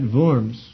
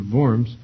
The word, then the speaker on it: Worms: an imperial diet at vorms to give account of his writings this is usually called the diet of vorms unfortunately for english pronunciations it's spelled like a diet of worms and that's obviously has